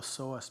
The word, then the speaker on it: psoas: the lower back area is called the seos muscle uh it's spelled PS O A if you want to